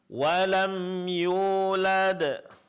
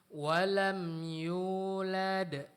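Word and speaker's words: وَلَمْ يُولَدْ: Walam yulad. Walam yulad. Nah, di sini mad wau setelah huruf ya.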